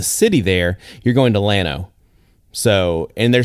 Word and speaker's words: Llano: go to the city there, you're going to Llano.